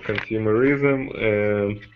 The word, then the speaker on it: consumerism: Okay, consumerism. Consumerism. Mm-hmm. Yes, one second. Stress on the second syllable of this word.